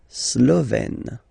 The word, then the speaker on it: slovène: Slovène. Remember, E accent grave, you open it, est.